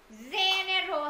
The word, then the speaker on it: general: General hay là general?